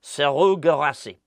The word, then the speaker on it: Serhou Guirassy: The name I was going to say to you was Serhou Guirassy. I don't know why I said the first bit with a French accent and then Serhou Guirassy. That's how you say it.